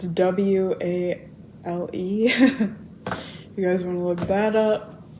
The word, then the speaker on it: Wale: my phone, Bad by Wally. I think that's how you say his name. It's Wale.